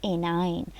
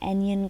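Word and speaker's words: anion: Some students are even pronouncing it wrong, like केशन और एनियन, कुछ अजीब सा प्रोनाउंस भी कर रहे होते हैं, प्रोनाउंसिएशन को भी ठीक कर लिया करें। केटाइन, CAT, कैट से निकला है केटाइन, एंड एनाइन।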